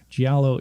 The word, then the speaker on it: Giallo: up, but I didn't look at how to pronounce it. They referred to it as a Giallo. It's Giallo, yeah.